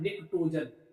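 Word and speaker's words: pnictogen: है, क्या होता है, निक्टोजन। क्या होता है, निक्टोजन। यहाँ पे साइलेंट, ठीक, कोई दिक्कत इसमें, निक्टो।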